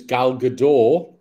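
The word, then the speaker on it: Gal Gadot: a point here so Wonder Woman's gal gador the tea is silent so there's a comparison that's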